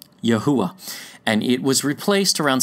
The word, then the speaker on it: Yahuwah: it out for us the original is yhw H in Hebrew which we pronounce phonetically as yahuwah and it was replaced